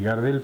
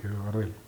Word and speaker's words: Gardel: Un día un anunciador lo pronunció Gardel, a él le gustó y quedó Gardel.